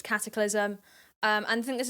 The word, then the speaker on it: Katiclyzm: wants to call herself okay it's cataclysm um I just want that to be known it's cataclysm um and I think